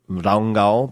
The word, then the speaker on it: Rangá: And we stayed at this place called Hotel, I think they pronounce it Rangá, but it's Ranga, R-A-N-G-A, which is in the middle of nowhere.